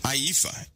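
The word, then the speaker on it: ephah: this IFA which is actually an IFA an aifa as it is uh pronounced is a most people say basket right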